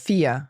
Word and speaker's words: vier: Now, we mentioned there eins, zwei, drei, and then vier. Vier. So IE is a different sound. Genau. And that's IE, and it's always pronounced in German I.